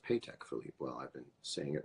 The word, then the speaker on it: Patek Philippe: world's most baller mirror pay tech Philippe is that true it's pronounced paycheck Philippe well I've been seeing